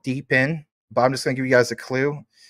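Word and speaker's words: DePIN: I understand this is spelled deepen, but I'm just going to give you guys a clue.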